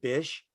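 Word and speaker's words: Bysshe: think in retrospect percy's middle name bish even though it's spelled b-y-s-s-h-e is kind of groovy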